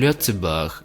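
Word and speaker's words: Lëtzebuerg: albergue in German and lute Seberg in the local language which is how it still pronounced today the French form that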